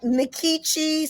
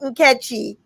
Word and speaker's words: Nkechi: So it looked like Nkechi, so that's how I pronounced it. Actually, if I were in Nigeria, it's a Nigerian name, it would be pronounced Nkechy.